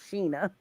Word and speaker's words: Shana: Shana, which is SHANAGOURDINE, because my name is spelled like Shayna, but it is Yeah. pronounced Sheena.